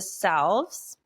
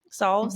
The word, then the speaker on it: salve: Okay, And so I remember listening to one of your episodes and you do the salves. Salves, is that mhm.